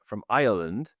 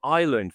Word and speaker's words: Ireland: I kept calling it Ireland for ages, and then everyone would say, "Which island are you going to?" Like, okay, Ireland. You got to add the extra subtle syllable in the middle, and I got it.